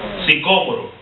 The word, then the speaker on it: sicómoro: Sicómoro, si tiene acento en la O.